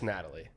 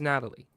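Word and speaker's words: Nathalie: It's just Natalie. Natalie. Why do you keep putting an H on the T? Is that how she That's how her name's spelled. But it's pronounced Natalie.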